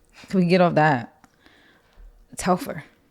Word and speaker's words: Telfar: Telfar. How do you say it? Telfar or Telfar? And don't say Telfeezy, because I hate when people say that. That's so corny.